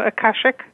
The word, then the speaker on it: Akashic: And in this, I'll need you to pronounce. Can you say the type of healer? Oh, Akashic.